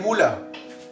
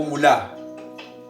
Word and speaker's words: mula: Y aquí digo, mula o mulá. Mula, ¿verdad? Quiere decir que su acento ortográfico está en su penúltima sílaba.